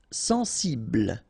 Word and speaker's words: sensible: Sensible. Okay, final E not pronounced. Bl will be the last sound.